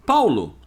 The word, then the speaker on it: Paolo: Paulo, não Paola ou Paolo. Isso foi uma invenção das novelas brasileiras e muita gente colocou nome de filho de Paolo ou Paola. Só que não existe na língua italiana. É Paulo, quer dizer, se escreve Paola e se fala Paula. Paolo, Paulo.